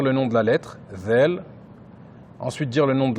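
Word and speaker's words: ذ: Ensuite, la lettre Zel. Rappelez-vous la lettre Zel, pour bien la prononcer, il faut mettre le bout de la langue sur l'extrémité des incisives supérieures. Z.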